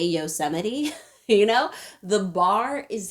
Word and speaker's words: Yosemite: a president currently who calls yosemite yosemite several times and not one of those times realizes he's supposed to say yosemite you know the bar